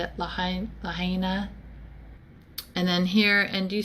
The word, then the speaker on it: Lahaina: I'm sorry how do you say it lahain Lahaina and then here and you see where it